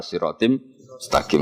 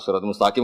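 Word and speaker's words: صراطٍ مستقيم: Sebenarnya , itu agak salah, karena "ala" adalah preposisi, jadi seharusnya "alaihi ala siratim mustaqim," karena kata "ala" sudah ada di sana. Namun jika Anda membacanya sebagai "ala siratul mustaqim," siswa Anda akan bingung,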